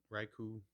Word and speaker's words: Raikou: Is it Raikou? Raikou.